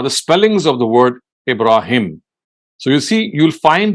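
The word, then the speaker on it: Ibrahim: don't find that ha so ibraim is the is the pronunciation herea he said in so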